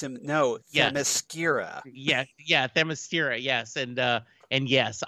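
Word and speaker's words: Themyscira: no yeah yeah yeah thermostira yes and uh and yes i i love that but he pronounced it as the mascara yeah the mascara and i also do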